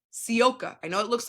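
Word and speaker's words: Sivka: Sioka. I know it looks like civa but her how you say it is Sioka for everyone out there.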